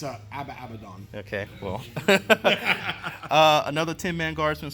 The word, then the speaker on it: Abaddon: People can't even say if it's Abaddon or Abaddon. It's Abaddon.